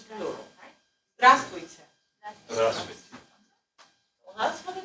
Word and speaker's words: Здравствуйте: Здравствуйте. So if I address all of you, of course it's plural. Здравствуйте.